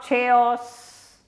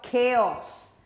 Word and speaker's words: chaos: state of not chaos people not chase chaos it's a state of chaos the CH there has got a cop sound and